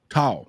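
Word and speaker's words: Thao: Tao.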